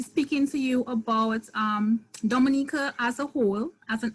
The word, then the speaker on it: Dominica: we call in Dominica it is spelled do em I and I see a it is not Dominica Republic this pronounce Dominica and the situated between